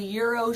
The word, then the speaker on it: Gyros: it's phonetically incorrect it's the g is silent and so's the S at the end so so what are